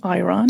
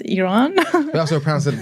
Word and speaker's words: Iran: on the Earth are you from yes they pronounce it iron here but it's Iran said Iran in America sometimes it's a mixed